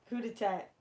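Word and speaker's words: coup d'état: attacked with Okuda tag coup de tat is how you say that word on live well you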